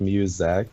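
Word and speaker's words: Muzak: we're calling segment yet it's pronounced musac musac we don't have a name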